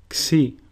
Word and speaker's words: Xi: Xi, which is pronounced xu, and a sample word is xilo, which means wood. Xi sounds exactly like the way the letter X is pronounced in the word exercise.